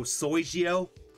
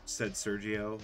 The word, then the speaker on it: Sergio: Yes, but it is a personal pet peeve because IRL, throughout most of my life, no one's pronounced my name correctly. Oh really? No one said Sergio.